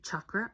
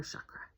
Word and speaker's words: chakra: You can say chakra or chakra.